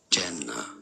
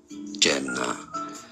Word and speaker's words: Jannah: For reference, in Arabic, it is said as Jannah. Jannah. So in English, it's generally pronounced as Jannah.